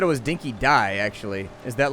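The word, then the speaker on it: Dinki-Di: Apparently, it's pronounced Dinky Die.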